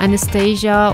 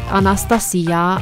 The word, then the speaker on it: Anastasia: If you are wondering why I'm pronouncing her name like this, just know that this is the correct pronunciation because she comes from Romania just as I do actually, and this is how I know. So it's not Anastasia or Anastasia or anything like that, it's Anastasia, and this is just